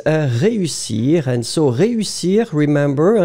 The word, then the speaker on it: réussir: If the accent was not there, E and U together, it's we agree. But in that situation, you've got this accent. So clearly, you don't combine the two. You will pronounce ré, and after that, usir.